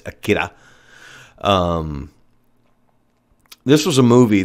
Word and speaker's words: Akira: film akira it's spelled akira how japanese pronounce ours is kind of more like a dt kind of thing so it's akira um this was a movie that changed the